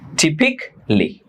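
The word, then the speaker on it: typically: যেমন এখানে এ আর এল এর কোনো উচ্চারণ নেই। টিপিক্যালি।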